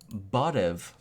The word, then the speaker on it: barev: First word I'm going to teach you is barev. How do you spell that?